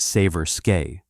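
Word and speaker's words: Seversky: The Severki P35, pronounced Saver Skeay, represented a bold but transitional step toward modern fighter construction.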